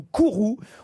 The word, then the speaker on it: Kuru: J'imagine en tout cas qu'en Bretagne, vous ne connaissez pas la maladie de Kuru ou Kourou. On peut la prononcer comme on souhaite, mais qu'est-ce que la maladie de Kourou?